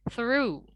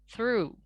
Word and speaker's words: through: Kemudian yang ketiga ada through. Nah, ingat dalam bahasa Inggris, R itu tidak dilafalkan secara rotik atau secara bergetar seperti dalam bahasa Indonesia. Jadi kita harus pronounce R itu dalam bahasa Inggris seperti kita cadel gitu ya, kita bilangnya R gitu. Jadi ini through ya, through. Anggap saja GH-nya nggak ada. Memang di sini karena silent ya, jadi GH-nya dianggap nggak ada.